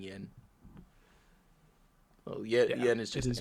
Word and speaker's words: 円: I don't know if they brought this up, but you would drop this Y when pronouncing yen. Oh, yen is just it is N.